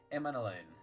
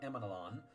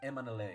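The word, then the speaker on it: Emmanellain: to have finally heard the way that it's pronounced emain it really it really eases my heart because I knew that I was mispronouncing it it's not emanon it's emain we'll be seeing you emain sorry that you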